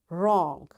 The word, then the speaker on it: wrong: Wrist, wrestling, wrong, ran, wrinkle, rack, wrap, wrench. You see, in all these words, because W is followed, after W there is R, so we don't pronounce this W.